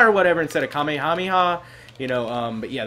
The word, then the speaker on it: Kamehameha: that weird cuz I think that's how Goten pronounces it it's like Kami kameha or whatever instead of Kamehameha you know um but yeah there we go